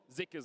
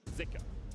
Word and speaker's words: Zika: and it was pronounced zuka on the LPL English broadcast but we have seen some people saying that in Chinese actually pronounced more with an i zika so I think for